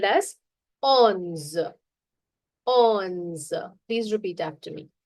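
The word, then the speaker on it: onze: move to 11 to 20 to understand the pronunciation better 11 is called as ons on please repeat after me ons 12 is do 13.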